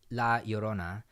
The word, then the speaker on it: La Llorona: We also watched La Llorona after the third...